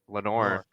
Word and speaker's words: Lenore: comes in to bother Lenora, him and yeah. make fun of him for it and taunt him for it. Lenore? Lenore, you're right. Lenore. Nevermore, because it rhymes with nevermore.